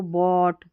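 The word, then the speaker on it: bought: हो रहा, इन स्पेलिंग्स में जी एच का उच्चारण नहीं हो रहा है। इसको बॉट, थॉट और इसको फ्रॉट पढ़ेंगे, और यहाँ पर इसको ड्राउट पढ़ेंगे, ठीक है।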